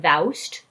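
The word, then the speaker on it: thou'st: singular conjugates ending in remember thoust rhymes with joust thou canst not fish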